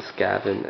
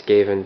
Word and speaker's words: Skaven: I think as the Skaven and the high elves. And I know I'm pronouncing it wrong, it's Skaven, but I like calling it Skaven for some reason.